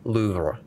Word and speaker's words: Louvre: if I can pronounce it correctly. Louvre. Yeah, it's. Louvre. It's a museum. I've always heard Louvre, but I didn't know Louvre, that there was yeah.